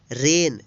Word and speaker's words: reign: REIGN, रेन। रेन means शासन। यहाँ पे देखिए एन से पहले जी आया है इसलिए जी का उच्चारण नहीं हुआ है।